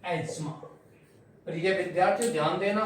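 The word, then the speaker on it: asthma: बट my dears, the word is not pronounced as अस्थमा in English, the word is pronounced as एज्मा in English. क्या बोलते हैं इसको? एज्मा।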